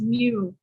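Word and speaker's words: Miro: software that ux designer makes use of is mirror it is spelled m-i-r-o and when we dive into the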